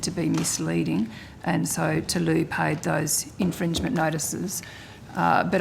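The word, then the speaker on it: Tlou: to a company called Tulu energy it was a company Tulu it's spelled capital t l o u energy so that's a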